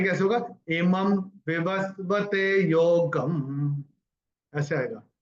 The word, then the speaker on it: योगं: इमं विवस्वते योगम, ऐसे आएगा। ग के ऊपर अनुस्वार चरण की समाप्ति पे आ रहा है तो इसका उच्चारण केवल और केवल म ही होगा।